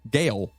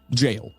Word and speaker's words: Gaol: Okay, and it looks like Gale. Okay. Or Gowl. Yeah. That's jail. Gayo. Yeah, it's jail. It's jail, yes. Makes sense. I believe the A is silent. So it's Gaul? No, it's jail.